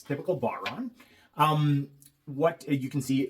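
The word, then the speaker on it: bodhrán: Um, that is apparently how you pronounce it in the Irish language.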